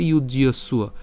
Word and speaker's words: যুজ্যস্ব: এরপর ইউজ্যস্ব, আমরা এটা যে উচ্চারণ করছি ইউজ পর্যন্ত উচ্চারণ করলাম, ইউজ, এবং জফলার জন্য কি উচ্চারণ হবে, ইয় হবে।